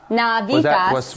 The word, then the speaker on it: Navitas: that Jackie told us exactly how to pronounce it. Navitas.